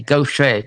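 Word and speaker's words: Gauthier: sent you two and it spelled g-a-u-t-h-i-e-r but it's pronounced g-o-s-h-a go say uh louisiana um let's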